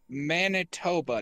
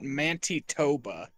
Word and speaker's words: Manitoba: place again please bright Manitoba Manitoba not mantoba like this is Canadian it's not that hard risk profile moderate okay so it's getting bigger poor Manitoba literally all I know about Manitoba is that uh Curtis